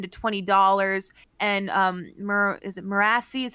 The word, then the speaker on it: Marisi: around like $19 to $20, and is it Marasi is how you say his name? Marisi.